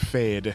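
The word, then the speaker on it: Feyd: Fade.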